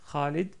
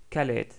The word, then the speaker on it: Khalid: pour présenter Kha, comme dans le prénom très connu Khalid. Khalid, donc que tous les Français connaissent par Khaled. Khaled.